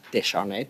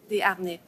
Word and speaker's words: Desharnais: So, Ms. Descharnais, did I pronounce that correctly? Desharnais. Desharnais, sorry. My apologies.